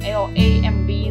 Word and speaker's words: lamb: And this one is, for example, like if we encounter a word like lamb, L-A-M-B, lamb, so there is a B, silent B over there.